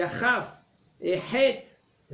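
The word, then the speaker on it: ה: He, c'est comment on le prononce comme il faut. Quand vous allez mettre la main vers votre bouche, c'est comme vous soufflez. He.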